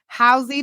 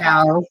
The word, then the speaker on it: Howze: Shunte Howze. Did I pronounce that right? I'm at the How?